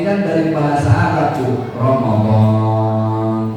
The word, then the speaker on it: Ramadan: Ramadan setelah huruf D ada alif bacanya panjang.